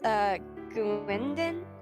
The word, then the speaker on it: Gwendon: It's pronounced Gwendon. Did I say that right?